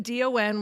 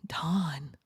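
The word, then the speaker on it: Dahn: I'm thinking D O N would be right. Maybe she's going to D A H N. Don.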